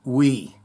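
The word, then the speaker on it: oui: We is French for yes and pronounced we.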